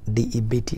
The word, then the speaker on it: debt: We write now D-E-B-T, debt or D-E-B-T or debtor, but it's not debt. The right pronunciation is debt or debtor.